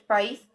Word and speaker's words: país: o quê de sílaba qual a sílaba tônica de país país país se fosse pai seria a outra coisa beleza pai a última